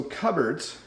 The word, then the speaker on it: cupboards: So, cupboards, uh, notice it's not pronounced the way it looks.